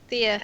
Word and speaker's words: Thea: name again phone ta Thea Thea yeah I even wrote pronunciation key like on my piece of paper t h e e what I wrote what's itaa like Theodore except the woman version short yes so uh